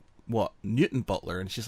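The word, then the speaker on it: Newtownbutler: new time Butler and I was like what Newton Butler and she's like no its new time Butler I said yeah it's Newton Butler and she's like no it's spelt new time Butler and I said yeah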